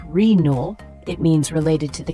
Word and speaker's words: renal: The word renal, spelled R-E-N-A-L, it's an adjective pronounced renal.